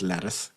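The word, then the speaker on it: Lettice: tremendous character name and I assume it just has to be pronounced lettuce otherwise what's the point lettuce earwig that has that's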